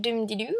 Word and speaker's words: Dubndidu: Pour répondre à certaines lectrices qui se reconnaîtront, alors Mademoiselle Dumdilu, ça se prononce comme ça, un peu comme la musique, donc je remettrai un lien vers l'article Pourquoi Mademoiselle Dumdilu.